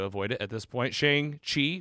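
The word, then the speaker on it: Shang-Chi: it at this point shang chi which pronounced in the movie trailer shong chi oh my god and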